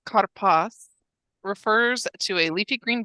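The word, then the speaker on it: כרפס: Pronounced karpas refers to a leafy green vegetable, a cognate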